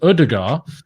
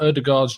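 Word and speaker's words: Ødegaard: Chelsea and beyond, but Martin Odegaard, the D is silent, I've been assured.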